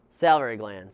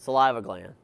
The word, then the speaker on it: salivary: Salivary gland, saliva gland. Saliva gland, or salivary gland is how you say it.